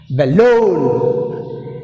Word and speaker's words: balloon: balloon. Balloon. Balloon. Balloon. Second syllable L మీద.